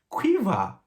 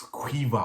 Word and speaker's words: Caoimhe: and she said no actually that name is pronounced cueva i know completely different quiver but apparently that's